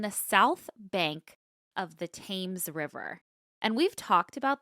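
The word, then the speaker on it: Thames: Hey, the Crossbones Cemetery is tucked away in Southern London on the south bank of the Tames River.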